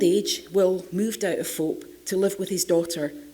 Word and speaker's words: Phawhope: It's an old cottage on Will's farm at Fope, which is confusingly spelt Fauhope, but it's pronounced Fope.